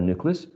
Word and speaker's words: nucleus: By the way, the pronunciation of this last section is a schwa, nucleus. Okay, so you have to relax your jaws, right, and open just a little bit your mouth to produce the final sound of nucleus.